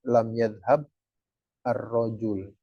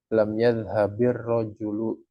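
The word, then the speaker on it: لَمْ يَذْهَبِ الرَّجُلُ: Ini kalau misal kita baca tanpa diharokatin maka lam yadhhab ar-rojul. Sedangkan bacanya nggak boleh berhenti, diputus. Jadi dibacanya lam yadhhabir rojulu, diharokatin.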